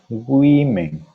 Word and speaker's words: women: Woman, mujer, el plural se dice women, women. Pero me dirán, profesor, pero aquí no veo ninguna I. Lamentablemente, quizás para los hispanohablantes, en el inglés no siempre se pronuncia tal como se escribe.